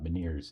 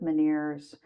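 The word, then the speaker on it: Ménière's: Um a couple of people in my family have uh miners disease. Is that how it's pronounced? Yes. Miners.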